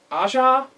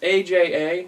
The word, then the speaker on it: Aja: the art is by i think it's pronounced asha it's aja that's something aja's aj's